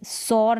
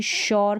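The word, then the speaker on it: sure: हैं शुगर पढ़ने हैं सौर नहीं शोर क्योंकि एस यू का साउंड शो और सर सुरेली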